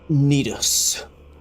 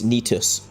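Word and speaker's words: Nito: Lords within the flame nidos n the first of the day she mispronounced it it's nitus the one with the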